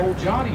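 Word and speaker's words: Olgiati: bridges in downtown chattanooga this is the old johnny bridge named after mayor olgati who was instrumental in having it built in the early 1950s don't try to spell it it's not how it sounds now the old johnny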